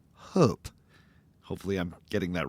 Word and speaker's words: Hóp: Norwegians or Swedes might pronounce this word closer to hope.